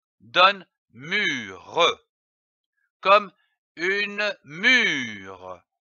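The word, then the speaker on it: mûre: syllabes mu r donne mure comme une mû attention ici l'accent circonflexe sur le U il faut allonger le U une mur je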